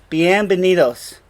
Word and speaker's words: bienvenidos: so bienvenido bienvenido x' notice how the V and the B sound the same bienvenidos there's no difference in Spanish between those two sounds now welcome to the